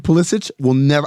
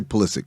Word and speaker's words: Pulisic: like Christian Pulisic, I will never say Pulisic.